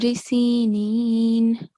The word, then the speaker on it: سينين: in this verse, وَطُورِ سِينِينَ, not na.